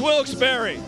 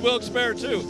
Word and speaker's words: Wilkes-Barre: ahead yeah alrights wilkes-barre the president said it wrong it's wilkes-barre he said will expire - I used to say wilkes-barre we people here will tell you wilkes-barre we call the Chamber of Commerce major the producers are